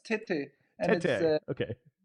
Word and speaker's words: TÉTÉ: And speaking of that, so the new album, am I pronouncing it correctly? Tet? Like tête-à-tête? Is that, am I, no? Off? Okay. Well, it's not a word, but it's TÉTÉ. And TÉTÉ.